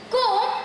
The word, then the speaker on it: comb: Comb rhymes with home.